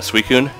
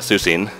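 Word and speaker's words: Suicune: Pokemon uh suun I I used to think it was pronounced susine I I I pronounced it suicide yeah and I was wrong yeah well I was wrong too but I call I call it suu now it just took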